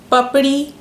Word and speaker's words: Papdi: so I'm going to break it into two words. Pap, as in like a, puppy, and you just say the short form of it, pap, and ri. It's an alphabet that I don't think the sound is even available in the English language, but I'll tell you how we make it in our mouth.